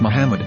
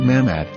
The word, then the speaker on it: Muhammad: after the H according to Ben yehuda's Hebrew English dictionary it is correctly pronounced as Muhammad not mammad so how we're going